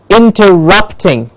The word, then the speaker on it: interrupting: excellent then we have interrupting rep gets the stress interrupting interrupting then we have initial